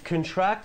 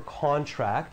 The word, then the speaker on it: contract: Yeah, so contract means, or contract, it's pronounced a little bit differently depending on the usage, but to shorten, agreement or deal, and to get an illness.